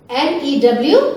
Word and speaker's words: knew: NEW new, NEW new. For this the rhyming word is KNEW new. इसको भी हम न्यू पढ़ते हैं because here K is silent.